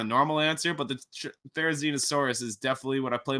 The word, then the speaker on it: Therizinosaurus: Therizinosaurus? Yeah, you pronounce that awesomely.